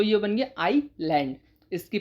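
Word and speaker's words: Iceland: Next है आइसलैंड। अब तक हम बोलते आइसलैंड लेकिन आइसलैंड नहीं बोलना है। आइसलैंड इसमें एस साइलेंट है। जब एस साइलेंट है तो यह बन गया आइसलैंड।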